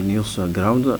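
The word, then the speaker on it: NewsGuard: Il y a ce qu'on appelle les news ground qui s'écrit N euh E W S G U A R D.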